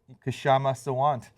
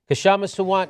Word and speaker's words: Kshama Sawant: I'll pronounce it for you. See it? Yeah, I'll have to go with Kshama Sawant. That's what I said. Kshama Sawant.